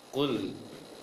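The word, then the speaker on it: قُلْ: Maka ketika baca lam sukunya, bibir jangan sampai membulat. Lepaskan atau dikembalikan bibir secara normal saja. Dibacanya kul. Jangan kul, tapi kul.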